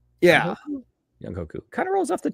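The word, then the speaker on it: Younghoe Koo: about, I'm like, I'm pretty sure that's not pronounced like the way anybody has ever been saying it. Young Hoku. Yeah. Young Hoku.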